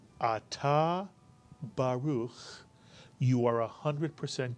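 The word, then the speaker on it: ברוך: So the first syllable is simply ba, and the second syllable is ruch, mitsuyan. Put the word together, baruch or baruch.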